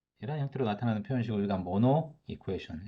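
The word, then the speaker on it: Monod equation: 자, 이런 식으로 나타나는 우리 표현식을, 이런 형태로 나타나는 표현식을 우리가 모노 이쿠에이션. 여기 D는 묵음입니다. silent.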